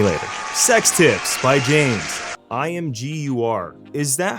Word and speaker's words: Imgur: I learned for the community. It's Imager. Imager?